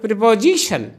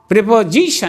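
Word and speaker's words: preposition: অংশটা জি এস আই এইটাতে একটা জোর হবে উচ্চারণটা এরকম হবে প্রেপজিশন প্রেপজিশন এই যে দেখো জিতে আমি জোর দিয়ে দিয়েছি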